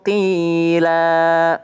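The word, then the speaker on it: قيلا: Oh, ada pertanyaan, Ustadz, barisnya kan qilan, qilan, tapi kok bacanya qila? Karena dia berada di akhir ayat. Jadi kalau berada di akhir ayat, khusus ini fathatain, double fathah an, akan menjadi a, ya.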